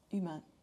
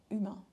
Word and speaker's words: humain: Um the h is silent in French, so we all say histoire or humain humain. Je suis un humain instead of saying human.